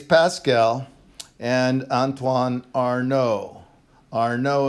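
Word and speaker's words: Arnauld: and Antoine are no are no is the way you I think usually pronounce that it's sis you know French so this is a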